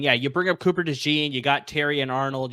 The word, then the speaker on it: DeJean: DeJean.